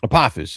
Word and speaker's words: Apophis: Apophis, yeah. So in Egyptian mythology, the Apophis is a god, but the reason why I have that name in the book is that the character that is now Apophis actually had a different name to begin with